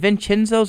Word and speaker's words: Vincenzo's: If you want to go to lunch with me, is it Vincenzo's or Vincent? I think it's Chenzo without the H. Yes. It's just pronounced weird.